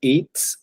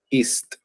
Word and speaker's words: eats: La única, como para practicar de pronto, es el eats en tercera persona. Estás en la pronunciación, pones primero la S y luego la T. East.